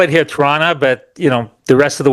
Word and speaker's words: Toronto: I'm in Toronto. Or we call it here Toronto, but the rest of the world calls it Toronto. Okay. The second T is silent.